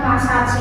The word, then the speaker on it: massage: Nah, bacanya beda message ya. Kalau yang pakai A bacanya massage ya, yang pakai perawatan itu yang spa itu.